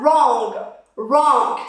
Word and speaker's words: wrong: Then we have wrong. So the W at the beginning is silent.